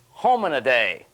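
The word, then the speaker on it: Hominidae: home in a day now I've got a good way to pronounce that if your mom calls you and says where are you you just say mom look don't worry I'll be home in a day hang-up genus Homo and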